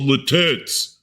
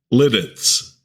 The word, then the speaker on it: Lititz: You split that first T and connect it to the first syllable. Lits.